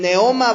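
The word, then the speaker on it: πνεῦμα: En el idioma griego, brother, la palabra viento, brother, se menciona como pneuma. ¿Sí? O sea, el neoma, brother, pero se escribe pneuma, así como se escucha, que significa aliento, significa viento, significa espíritu, brother, o soplo, ¿sí?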